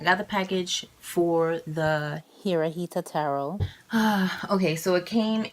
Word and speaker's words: Hirajeta: Throughout this video, I was mispronouncing the deck's name. It is the Hirajeta Tarot.